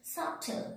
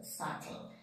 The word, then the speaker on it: subtle: s-u-b-t-a-d subtle s-u-b-t subtle we are not telling subtle subtle so this is the main rules whenever we are going to take silent b that means after a b inside and before t b is silent next one is silent